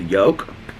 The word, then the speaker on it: Yolk: but it was called Yolk. Y-O-L-K, yolk, how do you guys pronounce it? Yolk, I say yolk, like egg yolk.